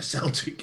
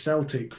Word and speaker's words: Celtic: ya no no cuz I pronounced it as Celtic rather than Celtic so in anger play